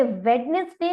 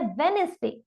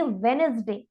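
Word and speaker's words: Wednesday: Exactly, ये वेडनेसडे नहीं है, ये है वेडनेसडे। साउंड ऑफ डी यहाँ पर साइलेंट रहने वाला है, इसीलिए हम इसे रीड करेंगे वेडनेसडे।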